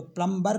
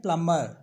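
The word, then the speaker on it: plumber: बम डम नम प्लम तो प्लबर नहीं बोलते सेसे बोलते हैं प्लमर प्लमर थम और लम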